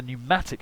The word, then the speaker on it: pneumatic: Next, the pneumatic system. So the pneumatics, of course, are new, the ancient Greek word for pressurized air, and with the silent P, my favourite of all of the silent letters.